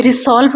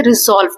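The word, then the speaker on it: resolve: रिसॉल्व, रिसॉल्व ये 2 syllable है, RE, इसमें ये जो इसमें S है ना ये Z बन जाता है, इसे रिसॉल्व नहीं पढ़ते, रिजॉल्व पढ़ते हैं।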